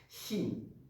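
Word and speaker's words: ش: On fait déjà un petit ch en fait. Shin. Comme un soufflement.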